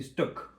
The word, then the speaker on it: stok: Donc c'est stok, S-T-O-K. Stok, c'est pas loin de steak. D'ailleurs, peut-être que prononce-t-on plutôt stock que steak.